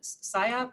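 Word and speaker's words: SIOP: program, is the PSYOP. Am I pronouncing that?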